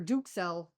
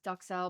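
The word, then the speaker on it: duxelles: e l l s everybody says duel but I looked it up it's dukel because if your French the U is a o so it's dukel I'm it we're French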